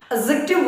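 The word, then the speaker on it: adjective: एडजेक्टिव word में डी जो letter है ये साइलेंट है।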